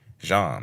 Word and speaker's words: Sejan: Hey, DT, before I say anything, Sejan is pronounced Jean, like Jean Baptiste.